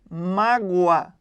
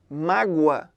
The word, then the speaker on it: mágoa: Mágoa. Mágoa. Esse O sai com som de U.